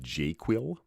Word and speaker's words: JQL: Now you'll hear me use the term jQuil. Uh that's how I pronounce JQL in the same way people pronounce SQL as SQL.